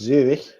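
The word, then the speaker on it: Zürich: Zurich, which in German is pronounced ever so slightly differently because it's Zurich, and Zuri in Swiss German is as France attack, but now there's a free kick.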